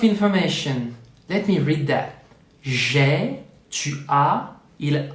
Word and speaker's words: j'ai: It's not je ai, but j'ai.